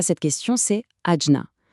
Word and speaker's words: Ajna: La réponse à cette question, c'est adjna. On le prononce agia.